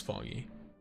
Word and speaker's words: Fangyi: Keep pronouncing her name wrong, but it is Fangyi.